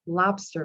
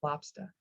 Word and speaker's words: lobster: you would pronounce it lobster roll. So you drop the R and you pronounce it lobster.